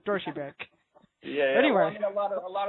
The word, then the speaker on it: Deutsche Bank: I call it Deutsche Bank, but it's Deutsche Bank.